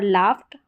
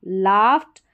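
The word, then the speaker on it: laughed: हंसना जोर से और लाफ्ट हंसना तो जोर से हंसा लाफ्ट लाउडली तो आप यहां पर लाफ्ट का उच्चारण और स्पेलिंग जरूर देखें नोट डाउन करें इसको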